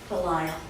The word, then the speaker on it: Belisle: How do you pronounce your last name? Belisle. Although I have among my second and third cousins at least 2 different spellings and 3 pronunciations. so I'm pretty tolerant. It's a Cajun last name, so.